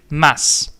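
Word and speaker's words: です: The same with mass. So it's not mas, it's maso. It's not maso mas. It is mass. So, Chris Mass.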